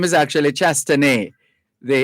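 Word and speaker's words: Chastanet: spelled c-h-a-s-t-a-n-e-t c-h-a-s t-a-n-e-t the t the last t is silent the t at the end is silent so it's allen shasta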